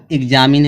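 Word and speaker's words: examine: चलिए गाइस देखते हैं यहाँ पे दिया है एग्जामिन है, तो पहले क्या आ गया, ई एक्स आया है ना, जब ये ई एक्स आया है तो जो इसका उच्चारण क्या निकले, जो यक्स का, यहाँ पे देखो गा आधा गा और जा निकल रहा है, एग्जामिन।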